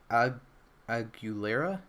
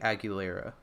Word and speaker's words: Aguilera: She is Aguilera. I think it's like Aguilera, like the actress last name.